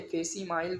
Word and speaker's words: facsimile: अगला है फेसी माइल, ठीक है, फेसी माइल बना हुआ है एन एग्जैक्ट कॉपी, किसी डॉक्यूमेंट का एग्जैक्ट कॉपी उसको बोलते हैं फेसी माइल।